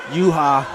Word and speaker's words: Yuja: Third round action between Ben Grady and Nestor Yuja. Yes, sir. I believe the J is silent.